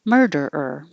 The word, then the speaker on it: murderer: is um let's see M myrrh and then hold it in the r position to make the the last ER so mer der ER